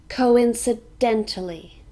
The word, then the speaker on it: coincidentally: it means not often coincidentally this has six syllables curve in sir Dena Lee and we stress dent coincidentally coincidentally it means in